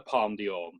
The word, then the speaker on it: Palme d'Or: Don't know if I pronounced that right. Yeah. Palme d'Or, yeah.